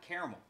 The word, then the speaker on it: caramel: Caramel. It's pronounced caramel.